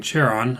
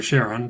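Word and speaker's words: Charon: in Greek mythology or maybe even cheron or cheron depending on how you want to pronounce that you know the he's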